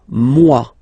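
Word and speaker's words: moi: So remember this o e combination give you the sound waw wa mua.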